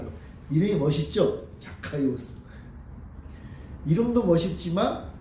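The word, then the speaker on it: Ζακχαῖος: 이 삭개오의 원래 발음이 뭐냐 하면 자카이오스라는 자카이오스. 그걸 이제 삭개오라고 번역을 한 거예요. 이름이 멋있죠? 자카이오스.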